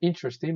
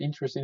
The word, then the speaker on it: interesting: What's the most interesting? By the way, the pronunciation of the word interesting is interesting, not interesting, okay? So the pronunciation is interesting, interesting, interesting.